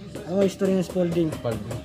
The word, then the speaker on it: Spalding: mo history ng spolding spalding spalding pala to e spolding yung mag-pronounce nila eh kaya American accent na rin tayo.